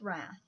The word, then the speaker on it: Rath: Mathis Rath that's spelled ma t th u.s. dr. Mathis Rath and rath very easily just the way it sounds ra th it's a